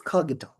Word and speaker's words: Kogito: Coito is that what? Cojito or Kito? Kito or Kito. Um, okay. Let's Let's say it's coito. Okay. Or kito. It's kito. Kito.